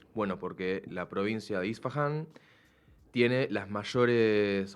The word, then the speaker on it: Isfahan: iraní más precisamente la provincia de isfahan isfahan así se pronuncia en la zona centro